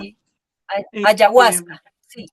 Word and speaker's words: ayahuasca: precisamente, sí, ayahuasca, es correcto, así la pronunciación, Sí, este, ayahuasca, sí, o yagé.